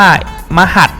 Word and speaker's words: มะหาด: จาก อะไร นะ เนี่ย มัน อ่าน ว่า มา หัด นะ ครับ เดี๋ยว ไม่ เดี๋ยว